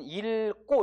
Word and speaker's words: 읽고: 그러면은 뒤에 기역으로 된 어미니까 우리는 읽고 이렇게 발음하는 거예요.